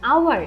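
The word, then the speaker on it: hour: সো আরেকটা উদাহরণ আমাদের কি আছে, অ্যান আওয়ার, অ্যান আওয়ারেও সেম, এখানে দেখো এইচ আছে কিন্তু উচ্চারণটা করছি আমরা আওয়ার, তাই না?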